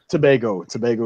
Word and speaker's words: Tobago: of the Trinidad and Tobago, right, or Tobago? Tobago is the proper way to say it.